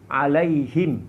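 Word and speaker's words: عليهم: Yang pertama adalah bikasril ha'i wa iskanil mim, ya, wa hiya qiraatul jumhur. Dengan membarisbawahkan huruf ha, alaihim, hi, ya, dan mensukunkan atau mematikan huruf mim, dan ini merupakan qiraat jumhur para ulama.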